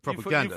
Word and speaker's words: propaganda: The influence is on the final syllable in that word, propaganda.